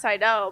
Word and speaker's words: Seidel: Well, it's not pronounced Seidel. It's actually pronounced Seidel, but Apple Seidel.